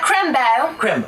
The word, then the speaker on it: Crimbo: Okay, and I want to make sure I'm pronouncing this right. It's, Crimbo? Yes, dear, Crimbo.